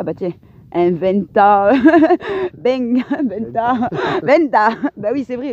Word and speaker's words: venta: Bang, venta. Venta. Bah oui, c'est vrai, le V, ça se prononce B.